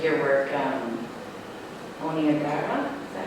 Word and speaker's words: Niagara: Like your work, Niagara, is that how you say it?